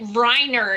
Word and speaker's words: Reiner: but the thing is if you didn't say it reiner it would be weiner right because it's spelled the same right yeah dianne feinstein's